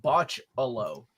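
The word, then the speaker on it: Bachalo: CHR osaurus is saying botch Alo which is the way that I remember Curtis pronouncing it yeah that's how his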